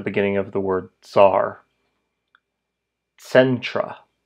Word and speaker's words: centra: Centra sentra sentra.